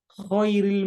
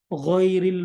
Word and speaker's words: ghairil: Jangan sampai salah karena ada orang baca khairil maghdubi alaihim. Harusnya ghairil maghdubi alaihim.